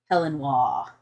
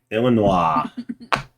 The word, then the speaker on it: Illinois: I'm going to travel to Helenois. By that, I mean Illinois. Illinois. Okay. You pronounce it wrong. It's Helenois. Helenois. Yeah. There's no H in Illinois.